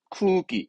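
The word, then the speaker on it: 空気: 그런 발음은 쿠기.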